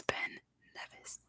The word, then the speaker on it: Ben Nevis: I always get confused with St. Kitts and Nevis because they're spelled the same, but the mountain in Scotland is Ben Nevis.